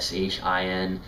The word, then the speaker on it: Sin: that that is used the pronunciation though is something in between those two there's not an exact or organization or an exact pronunciation that we have in the English language so it's shin so it's something in between Si and Shi in so how it's